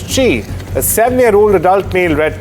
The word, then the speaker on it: Qi: Spelled QI and pronounced as Chi, a 7-year-old adult male